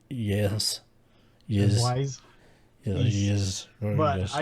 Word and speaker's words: Ys: East? East. Y-S. Oh. East. I pronounce that as yes.